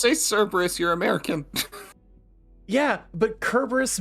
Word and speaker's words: Cerberus: so it's technically pronounced Kerberos? I don't even know the Kerberos. He's actually Starkey. what? It's Being from a nerd again. it's from a Greek. It's a Greek root. Just say Cerberus.